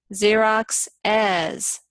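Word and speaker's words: Xerox's: Xerox, 2 syllables. Xerox as, 3 syllables.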